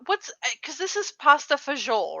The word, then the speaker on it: pasta e fagioli: what's because this is pasta fagiol right that's how you pronounce it right that's the correct pronunciation three words it's it's three words in italian it's pasta e fagioli and fagioli just means